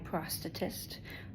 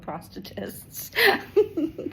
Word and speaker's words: prosthetist: My prosthetist, which that is how you say it. It sounds terrible, but they are called prosthetists.